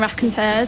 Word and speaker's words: Raconteurs: Now Jack's got his new band, the Raconteurs. Is that how you pronounce it?